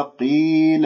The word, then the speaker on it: قيل: ذا، وإذا خطأ، وإذا قيل، القاف مفخمة مرتبة أخيرة، ما تقول قي قي قي، هي مرققة، فهي وإن تكن بأدنى منزلة فخيمة قطعا من المستفلة، فإذا تفخمها قي قيل لهم، لا لا لا